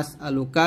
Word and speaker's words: أسألك: হাইয়ু ইয়া কাইয়ুম আসআলুক এখানে আসআলুকা সে থামলে হবে আসআলুক একসাথে ইয়া হাইয়ু ইয়া